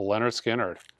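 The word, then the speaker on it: Lynyrd Skynyrd: you should own lists Leonard Skinner it's pronounced a Leonard Skinner with the whole entire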